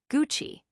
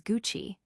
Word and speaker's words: Gucci: on the second syllable, Gucci, when the correct and more refined pronunciation is Gucci with a softer, more even stress.